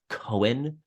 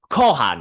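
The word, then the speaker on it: Cohan: He drives him over to the pub called, it's, we would pronounce it as Cohen, but he's like, it's pronounced Kohan here.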